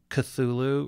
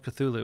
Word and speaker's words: Cthulhu: It's like, and his instructions for pronouncing it are like super weird. There's supposed to be sounds that don't fit in a human mouth.